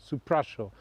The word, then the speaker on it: Supraśl: Supraśl. The S has an accent on it, sh.